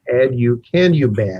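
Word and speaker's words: aducanumab: a long and hard to pronounce name it's ad you can ub i'll spell it a d u c a n u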